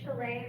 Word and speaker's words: Shalane: Hello everyone, my name is Shalane, rhymes with Malay, that helps remember it.